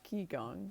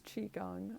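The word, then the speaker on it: qigong: spelled q i which a lot of people pronounce ki gong but it's qi gong uh chi the life force energy that piranha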